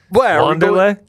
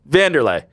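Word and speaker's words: Wanderlei: It starts with a W, but it's a van. No, I suppose in pronunciation. Wanderlay. No, that's not how you say it. Wandi. Vandy. Vanderlay. Vanderlay Silva.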